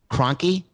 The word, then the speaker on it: Kroenke: business owned by the cranky fan cranky I just said cranky I don't think that's how it's pronounced Kroenke anyway they own everything